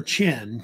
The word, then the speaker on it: Qin: So they have another dynasty that comes in that's called it's called either Qin or Qin. They usually pronounce it either way.